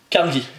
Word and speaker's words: Carnegie: Carnegie. Carnegie. On le prononce à l'écossaise parce que le monsieur a des souches écossaises.